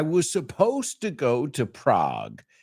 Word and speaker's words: Prague: I was supposed to go to Prague. You say Praga, we say Prague.